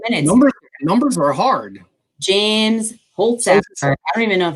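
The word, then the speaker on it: Holzhauer: James Holtzauer. I don't even know if that's how you say it. I guess that's how you say it. Holtzauer? Holtzauer, you got it.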